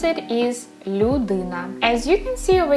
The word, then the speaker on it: людина: You will have syllable lu, di, na, 3 syllables, людина.